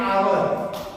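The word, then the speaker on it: hour: और उसमें जो कॉन्सोनेंट जो सबसे पहला लेटर होता है वो साइलेंट होता है। जैसे कि एन आवर, एच यहाँ पे भी है और एच यहाँ पे भी, इन सब में एच है ना, और इन सब में एक साइलेंट है और इसमें एच साइलेंट नहीं है।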